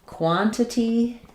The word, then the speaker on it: quantity: So, in quantity, you're either going to do both of those T's with a true T. quantity. That sounds like quantity. Stress is on quan or more often you're going to hear this as quantity.